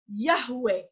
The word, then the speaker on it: Yahweh: So let's see why that pronunciation of Yod, Hey, Wah, Hey, past, present, and future could only be Yahweh.